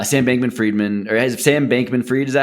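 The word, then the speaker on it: Bankman-Fried: But anyway, point is when I look at what happened to uh Sam Bankman Freiedman or Sam Bankman Freed, is that how you say it?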